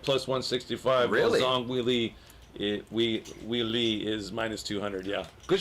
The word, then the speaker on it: Weili: Weili.